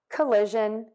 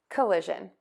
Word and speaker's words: collision: shun coalition coalition coalition one more thing to keep in mind here is that we are going to stress the li syllable and each of these words that means it's going to be louder longer and higher than the others which are going to be shorter softer and lower in pitch so let's try those